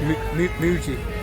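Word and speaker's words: mbejú: Mabuji or Maju, which is pronounced M-B-E-J-U, but it's a silent B, so it's pronounced Muji.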